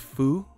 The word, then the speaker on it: pho: It's pronounced foo.